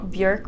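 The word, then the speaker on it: Björk: Bjork really is how you pronounce it, but she was saying like, you know, I gave it all.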